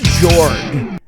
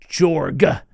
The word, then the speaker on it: Jorrg: him old hermit jorg so I said George but I I think some people call him George I don't know I give the hard G jorg jorg all right so